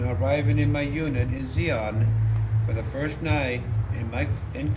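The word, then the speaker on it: Di An: a helicopter unit in Xi'an, spelled D-I-A-N. I believe the D is silent, close to Saigon and Cam Ranh Bay.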